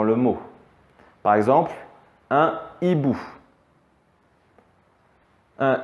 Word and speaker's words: hibou: Par exemple, un hibou. Un hibou, finalement, on entend le I, mais on n'entend pas le H.